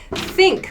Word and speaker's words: think: wash your hands yeah think i'm sorry think is the verb i think i think so students share their opinion i think your tongue needs to be between your teeth think think to say